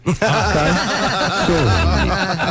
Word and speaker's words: Calzone: Calzone. Calzone. You do want to stress on the O.